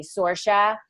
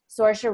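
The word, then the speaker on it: Saoirse: I think I'm gonna say her name correctly sorsa sorsha Ronan yeah dope I'm getting that correct but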